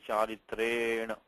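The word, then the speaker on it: चरित्रेण: So charitrena, it's just a long A.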